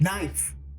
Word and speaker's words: knife: Knife. Like it makes Knife. Where's the K?